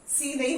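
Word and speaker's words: scene: Fascinate, fascinate, सी नहीं हो रहा है.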